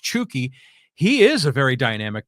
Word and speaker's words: Chucky: right yeah chuki Lozano I always thought it was Chucky but I guess it's it's pronounced chuki he is a very